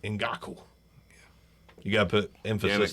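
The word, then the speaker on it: Ngakoue: Ngaku. You got to put emphasis, Yannick. though. You got to go Ngaku.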